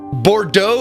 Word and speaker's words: Bordeaux: or not pronounce letters they have so many silent letters like Bordeaux is e-a-u-x has the Eau X they can just handle it with an o or doe with an O all right